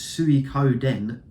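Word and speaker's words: Suikoden: have we got here now I know how to pronounce this I think it is Su Coden too um again this is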